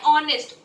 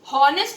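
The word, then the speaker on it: honest: ऑनेस्ट, हम बोलते हैं ऑनेस्ट, हॉनेस्ट नहीं बोलते बच्चों. इसीलिए क्योंकि इसमें दोनों, इसमें एच साइलेंट है तो हम ओ की साउंड को सुनेंगे.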